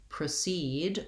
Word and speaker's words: proceed: So first syllable stress in the noun and second syllable stress in the verb. So when I proceed with the explanation, my letter O says the vowel schwa.